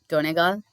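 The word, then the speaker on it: Donegal: So this is ஹவ் you pronounce டோனெகால், Kalve, Mayo, ஸ்லைகோ.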